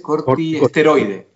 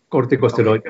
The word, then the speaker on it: corticosteroide: Entonces le debo preguntar, doctor, ¿qué hay con la interacción entre la dexametasona, un corticoide, ¿cómo se dice? Cortiesteroide. Corticosteroide o esteroide, sí.